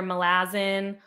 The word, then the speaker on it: Malazan: him say it well Erickson himself said he didn't care and so I think people do accept like either melazzin or um what's so how do you say it Malazan Malazan those seem to be like the two like oh that's fine it's apparently miles on that's not suddenly okay